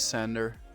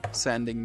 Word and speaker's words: Sander: you guys thank you my name is sander like the sanding machine you pronounce it sandi in uh in dutch i compare it to like how you say thunder but then with an s sander sander that's how you pronounce it in in my language but sander is perfect